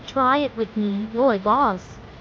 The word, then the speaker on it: Rooibos: how do you say R goes correctly it's boy boss with a strong emphasis on the boy sound try it with me boy boss say it a few times and you'll get